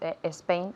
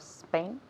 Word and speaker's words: Spain: common mistakes for example say it's a Spain instead of Spain perfect a pronunciation mistake a Spain okay Spain Spain I